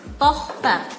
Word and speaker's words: Tochter: Jadi ada D di belakangnya, cuman D-nya jangan terlalu jelas diucapkannya, jadi Kind. Und Sohn. Sohn. Und Tochter. Jadi ada CH-nya semacam ada kol-kolah gitu, tapi samar-samar jadi Tochter.